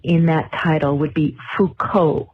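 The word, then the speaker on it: Foucault: that title would be Fuko, not Falcult. It's a French name is a philosopher.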